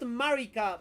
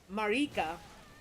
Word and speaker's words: Marika: lot of jokes because not Marica but Marika if you pronounce it